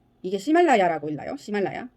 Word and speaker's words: Ximalaya: 중국 사이트가 어, 이게 시말라야라고 읽나요? 시말라야. Ximalaya.